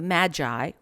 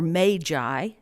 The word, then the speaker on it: magi: 6th the epiphany marks the arrival of the magi or magi as i've learned from merriam-webster it's actually pronounced the wise ones of we three kings